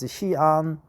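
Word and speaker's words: Xi'an: uh Capital right hean the Chinese pronunciation is hean visit the terracota Army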